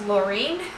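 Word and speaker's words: Loring: It is pronounced Laureen. It's L-O-R-I-N-G.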